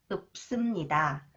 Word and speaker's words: 없습니다: When 시옷 follows the final consonants 비읍, that is pronounced up sound. Up. The 쌍시옷 is pronounced s. 쌍시옷. 없습니다. 없습니다.